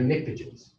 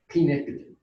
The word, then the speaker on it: pnictogen: Oxygen family, these are pnictogens. Starts with a P. P-pnictogen.